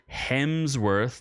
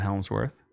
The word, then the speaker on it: Hemsworth: Well, Extraction 2, starring your favorite Thor and mine, Chris Hemsworth, not Helmsworth, as I've mispronounced numerous times in the past.